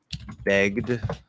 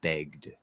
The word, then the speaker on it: begged: e is silent but the sound before the ed is voiced so it actually is a d sound it's a regular d which you can potentially stop but begged begged okay what happens if